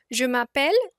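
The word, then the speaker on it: je m'appelle: is ending with e so we remove that e and we put an apostrophe and we pronounce it together jumel Rohan literally translating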